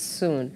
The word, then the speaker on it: Soon: soon on the show. Am I saying it right, by the way? It's soon. It is soon.